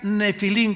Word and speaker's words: nefilim: Nepilim se escribe en el hebreo. Se pronuncia nefilim, como si fuera f de Francisco.